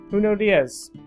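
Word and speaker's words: Junot Díaz: Junot Diaz.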